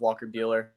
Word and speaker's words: Buehler: I've always loved Walker Buehler. Funny because his is spelled the same as mine with a B, but it's said completely different. He's Buehler, I'm Keeler.